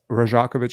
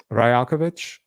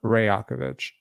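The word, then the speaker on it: Rajaković: us please um okay you can go one of two ways rajakovich is not them so rakovich or rakovich R is is a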